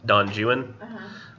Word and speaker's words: Don Juan: Kublai Khan and don don juin which I know it says Don Juan but he pronounced it Jew and it if you